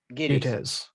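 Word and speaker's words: Gittes: Giddies.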